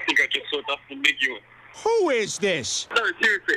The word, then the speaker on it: Nguyen: Just before we get into this, I just want to clarify that I do realise the pronunciation is Nguyen, but I'm just going back to the sort